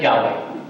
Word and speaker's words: Yahweh: generation after the Exodus that clearly pronunciates the Creator's name as Yahweh, the people of Yahweh.